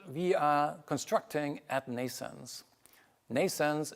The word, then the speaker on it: NNAISENSE: are constructing at nens nens is pronounced like birth in English like n but it's